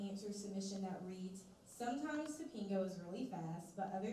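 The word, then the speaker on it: Tapingo: to customers online, and how exactly is it pronounced? So you are correct, it is Topingo, so you got that right.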